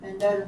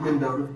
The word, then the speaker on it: Mendota: And then yesterday in the car, she tried to start towards like Mendota, Virginia, and I was like, hey, like if you're not taking me up there, that's fine.